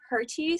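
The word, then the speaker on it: Hertie: yes hi guys uh technically the german pronunciation is the heritage school but no one cares it's the herdy school thank you um we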